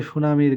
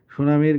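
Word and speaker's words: tsunami: সমুদ্রের গভীরে ভূমিকম্প হলে সুনামির সৃষ্টি হয় সুনামি বানানটা হচ্ছে টি ইউ টি এস ইউ এন এম আই সুনামি টি টা সাইলেন্ট আর এই সুনামি এটা একটা জাপানি শব্দ 42 নাম্বার হচ্ছে যে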